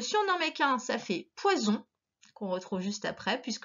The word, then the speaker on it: poison: Alors, cette fois, le son P, WA, comme dans poisson, le on à la fin aussi, sauf que cette fois, on ne met que un S qui fait Z, puisqu'il est entre 2 voyelles.